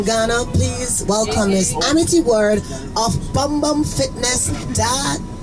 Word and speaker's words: Word: friendship in French and my last name is word wo Rd yeah so people like use a ward but so it is word many people have been